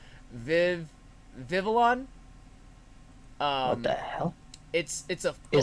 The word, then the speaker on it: Vivillon: Vivillon. What the hell? Is that a Pokemon? Yeah, it's a flying bug, and the wings. Pavilion. Oh no, it is Vivillon. Vivillon, yeah. I always pronounced it Pavilion.